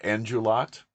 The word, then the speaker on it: Endrulat: It's without looking at Endrulat. Is that right? Is that how you Yep.